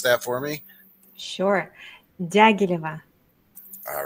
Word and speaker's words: Dyagileva: your name so your last name would you pronounce that for me surea all right see I would have I would